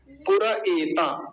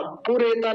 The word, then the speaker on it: पुर एता: भग, फिर से आ गया, पूरा एता। बस इस शब्द को देख लीजिए, पूरा एता। पुरेता नहीं बोलेंगे कभी, पुरेता बोलते हैं, पुरेता नहीं है, पुर एता।